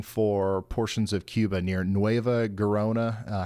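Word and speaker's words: Nueva Gerona: a hurricane coming for portions of Cuba near NOA garona how do you say that like like the locals that would be NOA Herona sounds like folks there need to brace for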